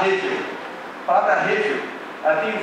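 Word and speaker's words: הבל: Essa palavra vaidade, ela se escreve Hebel, mas se fala Hevel.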